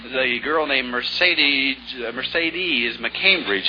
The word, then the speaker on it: Mercedes: name the girl named Mercedes Mercedes mccambridge has the same name but she pronounces it differently let's see here's his Mercedes Mercedes like in the Ben's car huh that's right you